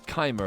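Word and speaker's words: Chimer: It is Chima, apparently.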